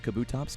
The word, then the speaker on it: Kabutops: I've heard it pronounced Kabutops.